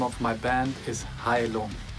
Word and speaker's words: Heilung: Hi, my name is Kai-Uwe Faust, and the name of my band is Heilung. Heilung.